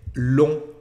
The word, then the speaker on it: longtemps: lesson the word long pay attention to the pronunciation as we don't say this later G and the pns so we just say long long with your French teacher online Pascal and